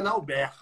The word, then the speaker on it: Nalbert: A pronúncia certa é Nauber. Então será Nauber.